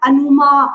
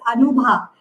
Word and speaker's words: अनुभा: अब है मेरे नाम को आधी दुनिया गलत प्रोनाउंस करती थी and they used to forget it. अनुभा, अनुमा, Anupama, पता नहीं क्या क्या बन जाता था. And then I have to से इट्स अनुभा.